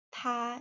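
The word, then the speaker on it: 她: Ingat untuk perempuan dan laki-laki ta itu ada perbedaan pada huruf hants. Namun untuk pelafalannya sama ya, huruf T dan A di di nada satu tha.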